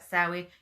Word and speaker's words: Samhain: For me, it's Samhain, and there'll always be someone that I will say I'm not saying it right, but get over it, because I say it like Samhain.